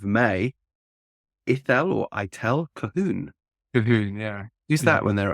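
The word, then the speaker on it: Colquhoun: e l l kahon is also spelled with it's called Quan yeah those people who know English spellings are impossible well that's a Scottish name actually eel kahun I'm going to look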